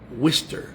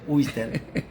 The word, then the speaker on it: Worcester: desde worcester Massachusets Bueno aquí le dicen wister cómo le dicen wier mi amigo el pastor Roberto Núñez está conmigo me recogió en el aeropuerto de Boston estamos en Cómo se dice aquí en Wester Massachuset Wester Massachusets pero se escribe warer pero todo el mundo que le he preguntado se dice wier así que tienes 30